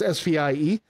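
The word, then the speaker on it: Speier: Cincinnati Reds named Chris Speer okay and everybody pronounced yo it's svie so they call me Spears I have been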